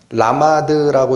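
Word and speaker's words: למד: 그래서 이 동사가 라마드라고 읽히는 동사인데 저도 이걸 준비하다가 이 동사가 얼마나 구약 성경에 써졌나 했더니 86회가 써져요.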